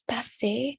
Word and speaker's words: passer: Passer is not passer. It's passé. So all the ER verbs, the R at the end is the sound of E, not Oui.